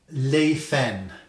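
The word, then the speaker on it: Laifen: really big Channel um I think it's pronounced Leen l a i f n and it is a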